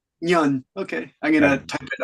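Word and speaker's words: Ngan: how to pronounce that Nan is it Nan Negan n g n Nan how do you pronounce it that's that's my name you should say Yan okay I'm gonna type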